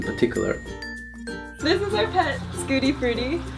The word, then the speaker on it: Schadenfreude: This is our pet, Scooty Fruity. It's spelled Schadenfreude, but it's pronounced Scooty Fruity.